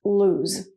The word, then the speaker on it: lose: is really hard, but the sound is the same as choose, okay? I try not to lose anything when I travel. So there's only one O, but it's pronounced lose.